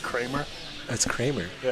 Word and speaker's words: Creamer: So just to clarify, I think it's pronounced Kramer. That's Kramer. Yeah, it's Kramer. Mark Kramer. Oh, I've been calling him Creamer.